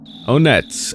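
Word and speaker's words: Onett: Onet, a small town in Eagleland. And also, I don't care if it's like Onet or Onet or whatever. I'm saying Onet, okay? That's how I say it, okay?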